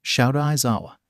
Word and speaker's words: Shouta Aizawa: I am your homeroom teacher, Shouta Aizawa.